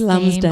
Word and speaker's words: Lumsden: Actually, it kind of is spelled the way it sounds.